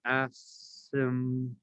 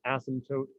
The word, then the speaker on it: asymptote: i'll write it down asymptote it's spelled weird but it's pronounced asymptote the p is sound silent pretend that the p is not there and you will pronounce it correctly asymptote i can actually